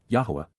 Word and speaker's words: Yahowah: Revere y appreciate the astonishing awesomeness of yah yahwah the proper pronunciation of the name of eloah God as